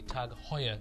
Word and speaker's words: Tag Heuer: So if you guys have enjoyed this review, hopefully you guys are also going to enjoy the review for the Tag Heuer, is how it's pronounced, but we'll just call it a Tag.